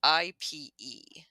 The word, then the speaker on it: ipe: you talk about the e-pay wood so for those uh it's ipe it's it's a weird pronunciation for the spelling you might read it as I would so ipe wood is used by